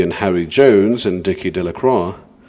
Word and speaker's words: Delacroix: Bobby and Harry Jones and Dicky Deacro, the villagers pronounced his name Deacroy, eventually made a great